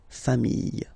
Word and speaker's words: familles: the plural form, les familles, okay, remember, chien, singular form, chien, same pronunciation, but you put this S, okay, final S, not pronounced, famille, singular form, famille, plural form, same pronunciation, S, not pronounced, okay, I hope it was clear.